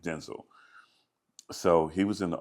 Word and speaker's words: Denzel: the office or I'm sorry, he just said Denel is how you pronounce his name. Denel.